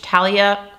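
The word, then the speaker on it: Thalia: I think you don't pronounce the H. Talia collab.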